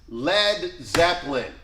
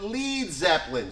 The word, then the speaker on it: Led Zeppelin: Led Zeppelin. Okay? You know why it's spelled L-E-D and not L-E-A-D? Because they were sure that Americans would call it Lead Zeppelin.